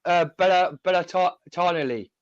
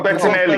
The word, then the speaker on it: Bettinelli: I would like to Bellatoni, the goalkeeper. Oh, Bettinelli. Bettinelli. Yeah, Bettinelli. That's it. Sorry, Mark. You just butchered his name too.